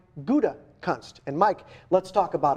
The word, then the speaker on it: Gutekunst: That would be the Gouda cheese, or shall I say the Gutekunst cheese, right? If nothing else, once and for all, that'll teach you how to say the Packers' new general manager's name. It is Brian Gutekunst.